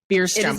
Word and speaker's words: Bjurstrom: say it for us it's a tough one beerstrom oh you're here i know how to say